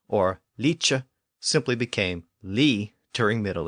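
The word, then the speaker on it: lice: Another common Old English suffix was like, originally spelled L-I-C, pronounced leek, or sometimes spelled L-I-C-E, pronounced leecha.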